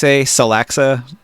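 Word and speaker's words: Tsalaxa: merchant house I think house Celexa the t-s-a-l-a-x-a salaxa with a silent T at the beginning I think they're the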